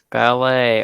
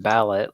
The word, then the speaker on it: ballet: Ballet. Okay, so I would say because it's pronounced ballet and not ballot like it's spelled.